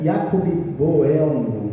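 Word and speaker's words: Jakob Böhme: E aí tem o Jacob, que na verdade a pronúncia é Jacob Boelmo, que é mais ou menos assim a pronúncia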